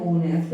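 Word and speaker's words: honest: तो एन, ओनेस्ट, farmer. समझ में आया प्रोनाउंसिएशन का कितना बड़ा रोल है, प्रोनाउंसिएशन का कितना बड़ा रोल है। एच आते हुए भी एन आ रहा है यहाँ पे, और यहाँ पे देखो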